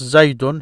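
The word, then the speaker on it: زيدٌ: So you start with it like this, Zaydun. Here is Zayd, a proper noun that accepts the nonation.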